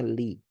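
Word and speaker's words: لِ: Kalau bersambung dengan selain damir maka dibacanya li artinya milik.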